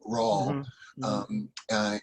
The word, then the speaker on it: Raul: So it still shows as Raul, which is kind of pronounced like Paul, Raul.